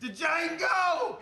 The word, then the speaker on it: Django: DJANGO! D is silent here, baby.